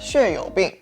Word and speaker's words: 血友病: So in Mandarin, I would pronounce that 血友病, which is kind of a funny name because it's called blood-friendly disease.